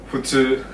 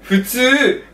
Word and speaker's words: 普通: So it's more like H. Right, it's more like H. Fu? Futsu.